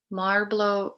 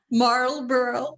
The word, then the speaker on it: Marlboro: pronounce it either um so my knowledge is marlboro that's how it's supposed to be pronounced but i don't know